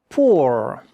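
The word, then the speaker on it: pauvre: These two letters make the sound o not O P. V R E at the end. But the E, you don't hear it.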